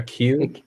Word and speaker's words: queue: waiting in line a q q how how could you write this yeah pronounce it like the letter q yeah they was waiting